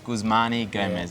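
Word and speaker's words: Guzman y Gomez: maybe elaborate what is gyg gyg stands for gusmani gomez so it's a mexican inspired restaurant and um yeah guzmani gomez is how you pronounce it okay for an italian and an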